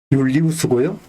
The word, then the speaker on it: 율리우스: 그 로마식 그 당시에 뭐이 라틴어 라틴 그러니까 로마식 발음으로 하자면은 율리우스고요. 그것이 이제 영어로 이렇게 발음화되다 보니까 줄라이가 된 것이죠.